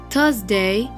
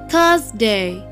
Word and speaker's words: Thursday: wednesday wednesday thursday thursday when you say thursday you have to put your tongue in between your teeth thursday friday friday saturday saturday